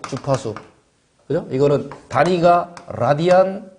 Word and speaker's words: 라디안: 이거는 단위가 라디안 퍼 세컨드입니다.